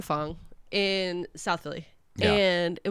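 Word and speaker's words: phở: we were at n fong in South Philly and it was delicious it was his first time having a foe or fo it's correctly pronounced F I know I had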